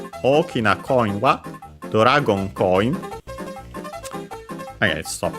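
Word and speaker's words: 大きい: key and then e o key accented. So the accent is on the key. Uh low high high and then low low for the E.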